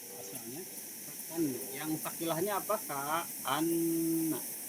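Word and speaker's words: كأنّ: Ka'anna ya. Asalnya ka'anna. Yang fakilahnya apa? Ka'anna. Di syiddah ya.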